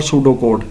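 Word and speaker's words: pseudocode: इसमें P silent है। ठीक है? पी एस यू पी एस ई यू डी ओ सी ओ डी ई ये है सूडो कोड इसमें पीस साइलेंट है और फ्लो चार्ट्स हैं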